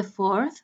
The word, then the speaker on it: 4th: Listen, I said the 4th with this sound at the end. Why? Because I use an ordinal number to express order. In English, we use ordinal numbers to say the date, okay? We don't say the 4.